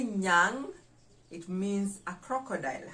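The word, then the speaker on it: nyang: to cow in the luo how do we spell it d-h-i-a d-h-i-a-n-g with an apostrophe d-h-i-a-n-g with an apostrophe the yang diang refers to a cow number 13 hyena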